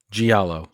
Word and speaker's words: giallo: When are you going to tackle Giallo? How do you pronounce that? Giallo? Giallo.